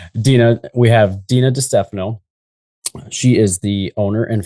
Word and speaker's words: DiStefano: Dphano. Dphano. I just didn't want to butcher it on live air. So, I appreciate you asking. Dena, we have Dena Dphano.